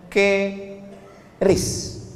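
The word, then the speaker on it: QRIS: Sekarang di pintu-pintu masjid, di pintu-pintu mall ditulis ada namanya ke ris q ris. Cara bacanya gimana sebetulnya? Keris. Q-nya quick. Quick artinya cepat. R-nya respons. Kris quick response code.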